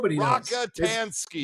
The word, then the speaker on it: Rockatansky: Rockatansky.